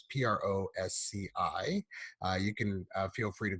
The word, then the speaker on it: Prosci: I believe I'm pronouncing that right. It's PROSCI.